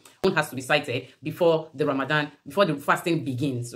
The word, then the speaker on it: Ramadan: is called Ramadan but some people call it ramazan some people in their country you know we have different ways we pronounce some words and then it all means the same there's a bit difference in the pronunciation but when you hear someone saying ramazan and Ramadan it's still the same thing it's just the disease